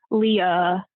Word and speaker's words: Leah: that elegant, romantic schwa sound at the end of the name. lee uh, moy ruh.